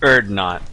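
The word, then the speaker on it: Urdnot: Yes, and it's actually pronounced Erdnot. And I'll give 5 internet points to anyone who can guess what that's reference to.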